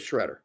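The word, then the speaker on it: Sciaretta: Spelled properly, it's the second way there, Antonio, but phonetically, it's the first one.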